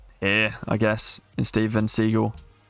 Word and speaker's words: Seagal: so how's it pronounced so it's pronounced he's from under siege yeah okay and he's pronounced siegel although i've always read it seagal okay so steven segal okay that's how i initially originally thought about it drunken fish says pc